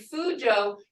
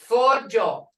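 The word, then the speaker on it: fuco: It ain't Fujo. It's Fojo. Hear it? Fi-u-ji-o. Fojo. Hear that? O. Fi-u-ji-o. Fojo is duck.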